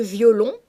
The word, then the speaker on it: violon: un cœur qu'on afflige le terme violon se prononce dans la vie courante en deux syllabes violon mais dans ce poème